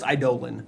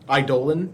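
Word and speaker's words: Eidolon: result is how do you pronounce eidolin it's pronounced idolin I Dolan yeah sure idling idolin yeah um let's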